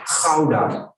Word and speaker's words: Gouda: You know, this is Alkmaar, which is a little city near Amsterdam, but Holland is famous for Gouda cheese, and we pronounce it as Gouda.